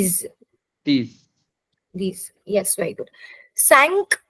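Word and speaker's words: cinq: Sank is like s a n k in English right? Swimming sank.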